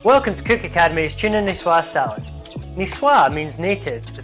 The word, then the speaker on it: Niçoise: welcome to cook academy's tuna nisswa salad nisswa means native to the french city of nice niche is spelt like nice let me tell you this